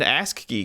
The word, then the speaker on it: ASCII: Yeah, the 1980 video game Rogue, which was just an ASCII game. ASCII? Yep. Is that how you pronounce that?